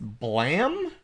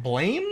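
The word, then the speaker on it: Blame!: about a manga named it seems to be pronounced blam but it's like blame it's a little weird it's gonna actually you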